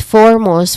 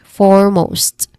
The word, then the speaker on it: foremost: Next is foremost, which has two syllables.